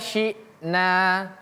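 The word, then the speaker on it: شِئْنَا: Waidza sy'na. Ini hamzah. Jadi bacanya seperti kita membaca kalau dalam bahasa Indonesia tuh ada petik atas ya. Syi syi syi bukan syik tapi syi syna.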